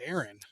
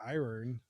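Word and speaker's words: Éirinn: So it's like the how how do you say Ireland in Irish is Aaron is Aaron not Iron there you go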